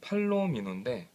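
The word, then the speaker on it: Palomino: 쓰게 됩니다 어 회사는 팔로미노 아 요거는 발음을 잘하셔야 돼요 팔로미노 어 앞에 뭐 C 이런 걸 붙이면 큰일 나겠죠 그렇죠네 그리고 요거는 고가 연필입니다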